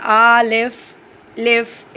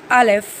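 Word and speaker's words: alif: अलिफ, और हम इसको ज़्यादा खींच के नहीं पढ़ेंगे, बहुत ज़्यादा ज़ोर नहीं देना है। आलिफ लिफ इस टाइप से नहीं पढ़ना, हमें पढ़ना है अलिफ।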